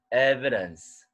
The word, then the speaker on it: evidence: 원사하지 말고 드에 가까운 어. Evidence.